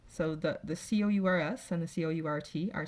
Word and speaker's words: court: You'll notice both the S and the T there are in the parentheses, so that's why it sounds identical, because they are not pronounced and they are the only different part.